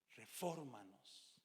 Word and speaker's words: refórmanos: Recuerde, estamos en la serie Refórmanos. Y pongo el acento en la O porque es esdrújula, pero refórmanos, y termina en nos.